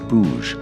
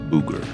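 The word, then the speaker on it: Búger: FYI, it's pronounced Boug, not Booger.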